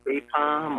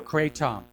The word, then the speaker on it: kratom: Kratom or Kratom. K-R-A-T-O-M. Could you spell that one?